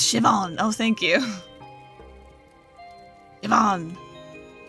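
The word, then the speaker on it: Siobhan: have robbed it myself tio ban shiban is pronounced shivan oh thank you come on what a menacing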